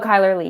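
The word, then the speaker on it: Chyler Leigh: Supergirl's sister am I saying it right oh Kyler Lee yeah okay good um yeah and I and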